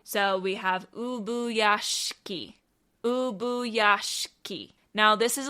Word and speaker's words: Ubuyashiki: Ubuyashiki. Ubuyashiki. All right, so with that, it's Ubuyashiki.